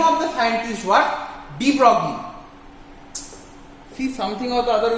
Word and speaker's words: de Broglie: Okay, so de Broglie has de Broglie, but we pronounce it as de Broglie.